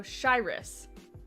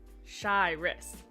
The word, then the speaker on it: Shyrus: pronounce my username before shy then like wrist without the t so shyrus shy wrist got that one nailed